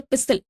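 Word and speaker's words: pistil: root बोलते हैं junk पिस्टल को बोला जाता है या पिसल वैसे इसका जो प्रोनंसिएशन है वो पिस्टल नहीं पिसल होगा ओके इसमें टी साइलेंट है झाऊ झाऊ बोलते हैं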